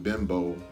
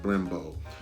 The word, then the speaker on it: Brembo: so let's take a look at these uh Brembo I know I call them Bimbo in the uh last segment they're actually pronounced Brembo plastic caliber covers which these are not the